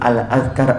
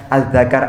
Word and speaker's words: Al-Azkar: kitabnya Imam Nawawi berjudul Al-Azkar An-Nawawi, paham ya? Karena gak ada harokatnya. Karena gak ada harokatnya, bacanya Al-Zakar An-Nawawi.